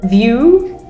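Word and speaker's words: Vue: Yeah, because we have a cinema here called the View Cinema. View, but spelled V-U-E.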